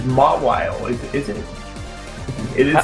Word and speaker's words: Mawile: Thank you for backing up my pronunciation there. I've always said Mawile. It's Mawile, is it?